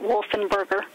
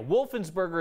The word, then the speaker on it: Wolfensberger: him his name without the S so he pronounced it wolf and burger and then we believe possibly when the street